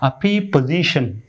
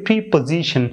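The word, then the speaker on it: preposition: যে লেখা আছে প্রি পজিশন, আমরা এটা উচ্চারণ করবো প্রে পজিশন, প্রে পজিশন, প্রে পজিশন, প্রে প্রে প্রে পজিশন, প্রে পজিশন।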